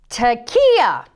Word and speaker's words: tekiah: Tekiah.